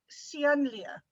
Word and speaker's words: Ceanlia: your name sian lia how do you say that sian lia where you from south